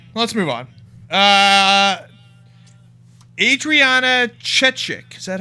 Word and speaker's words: Chechik: insomniac uh anyway let's move on uh Adriana chechik is that how you pronounce her name yes uh so twitchcon just